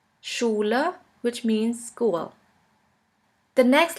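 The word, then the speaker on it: Schule: In English, you would simply pronounce it like in the word sheep. sheep and in German we have the word schula schula which means school.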